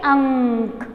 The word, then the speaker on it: अंक: अंक, ओके, बिंदी है, तो हम उसे कैसे प्रोनाउंस करेंगे, अंक, ओके। अक नहीं बोलेंगे, यदि हम बिंदी हटा देते हैं तो वो क्या हो जाएगा, और का अक, तो नो बच्चों, रॉन्ग हो जाएगा। हमें क्या बोलना, अंक, कैसे प्रोनाउंस करना है, अंक की बिंदी, अंग, अंक, ओके, अंगूर, है ना, ऐसे प्रोनाउंस करोगे।